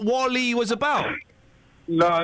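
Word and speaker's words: WALL-E: no Wally what w well yeah but it's pronounce Wally why would you call a film w e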